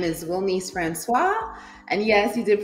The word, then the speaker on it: Wilnise: My name is Wilise Francois and yes, you did pronounce that correctly.